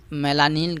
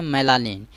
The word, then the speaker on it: मेलानिन: फिर काला है, उसी मेलानिन का है वर्ड बोला रहा है। ठीक है, तो लेकिन ये लोग गांव देहात में बोलते हैं तो उसको मलिन बोलते हैं, लेकिन इसका शुद्ध उच्चारण क्या है, मेलानिन।